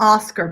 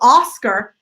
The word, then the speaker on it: Oscar: never get the emphasis so Oscar aw Oscar right and there's no a there right a lot of times especially in Spanish or Scott bull Scott right ah no I Oscar know that a are